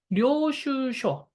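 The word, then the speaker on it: 領収書: 료슈쇼. 발음이 료슈쇼라고 돼 있죠?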